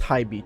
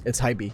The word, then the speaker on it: HiBy: And yes, it's pronounced HiBy, trust me. My video about HiBy is coming up, and it's HiBy, trust me.